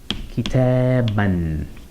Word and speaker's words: كتاباً: It's just decorative, we don't pronounce it as a long '-aa' sound, but if I wanted to say 'I read a book for example, I would say, or write, more likely, قرأتُ كتاباً, where the '-an,' (ـاً)